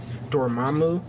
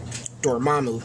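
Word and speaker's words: Dormammu: Dormamu. That is how you say his name. Dormamu.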